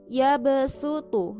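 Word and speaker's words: يبسط: Di dalam ayat ini terdapat bacaan yabsutu. Nah, di situ ditulis dengan huruf shad tapi di atasnya ada sin kecil. Nah, maksudnya di situ adalah tulisannya shad yabsutu tapi bacanya harus pakai sin.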